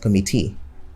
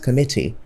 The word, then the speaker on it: committee: So you talk about the tripartite committee, not the tripartite committee. The tripartite committee. So committee is also stressed in that particular order, not committee, but committee.